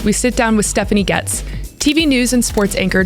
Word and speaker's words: Goetz: And most people say Goetz or Goetz. And no, it is Stephanie Goetz, like Stephanie gets what she wants.